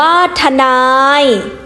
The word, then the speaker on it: ทนาย: อักษร ต่ำ ด้วย กัน ให้ อ่าน ออก เสียง เป็น สอง พยางค์ พยางค์ หน้า ให้ ออก เสียง คล้าย ประสม สระ อะ เครื่อง เสียง คือ พยางค์ หลัง อ่าน ออก เสียง อักษร ต่ำ ประสม กับ สระ อะ ตาม ปกติ หรือ อ่าน เหมือน ไม่ มี หอ น้ำ ชรา อ่าน ว่า ชรา ทนาย อ่าน ว่า ทนาย พลัง อ่าน ว่า